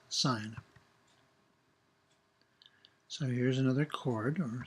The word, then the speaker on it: sin: Another word for chord is sine, which is often abbreviated as S-I-N, pronounced sine.